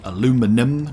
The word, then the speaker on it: aluminum: and he called it aluminum not aluminium aluminium is what the